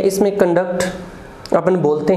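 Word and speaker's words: conduct: है कंडक्ट, और सेकंड syllable पे स्ट्रेस रहता है, फर्स्ट अनस्ट्रेस्ड रहता है कंडक्ट। और कंडक्ट जो है ये वर्ब बन जाती है।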